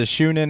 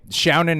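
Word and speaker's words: shōnen: Is it Shunin or Shounen? Or Shonen or Shounen, yeah. Shounen anime, a showering anime where artifacts bestow power-ups and archaeologists fight for intellectual supremacy at Battle University.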